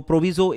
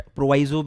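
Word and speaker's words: proviso: Basically एक प्रोविजो insert हुआ है, प्रोविजो जो भी बोलो, प्रोनाउंसिएशन अलग अलग होता है। तो प्रोविजो इंसर्ट हुआ है, मैं प्रोविजो बोलता हूं, मुझे आदत है, बट प्रोवाइजो भी आप बोल सकते हो।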